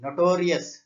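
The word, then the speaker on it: notorious: నొటోరియస్ ఇక్కడ నొటోరియస్ లో ఇక్కడ టీ దగ్గర మనం స్ట్రెస్ గా ప్రొనౌన్స్ చేయాలి, అంటే అక్కడ ఎక్కువ మనం ఉచ్చారణ అంటే ప్రొనౌన్సియేషన్ పడుతుంది కాబట్టి నొటోరియస్ టీ దగ్గర స్ట్రెస్ చేస్తున్నాం, టీ దగ్గర వర్టికల్ బార్ ఇవ్వాలి.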